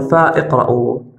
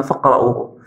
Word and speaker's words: فاقرأوه: همزة الوصل، فاقرأوه، لم نقل فا اقرأوه، قلنا فاقرأوه، إذا حذفت همزة الوصل.